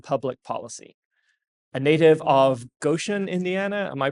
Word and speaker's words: Goshen: energy technology and public policy a native of Goan Indiana am I pronouncing that right I didn't say I said elart earlier and you corrected me so I'm make that's exactly right Goan Indiana and self-described failed violinist uh he graduated